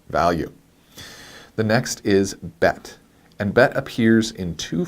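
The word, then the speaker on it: ב: the dot and without this dot is called the dog eesh and it changes the pronunciation of the bet so when it has the dog ich it's a hard B sound but without it's a softer v sound alright so but but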